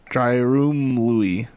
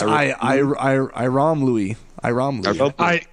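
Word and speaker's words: Ayromlooi: Dryroom Louis. Oh, it's Iram Louis.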